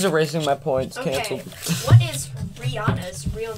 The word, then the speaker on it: Rihanna: you know the rihanna her real name is rihanna not rihanna well they were asking